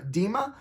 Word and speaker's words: DMA: But our next card you may not agree with, but I am part of Team DMA, pronounced Team Dima.